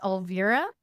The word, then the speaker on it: Elvira: And just for the record, it's pronounced Elvira.